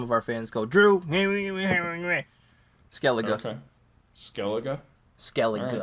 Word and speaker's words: Skellige: I'm gonna have to pronounce some of these things right for you before some of our fans go, Drew. Skellige.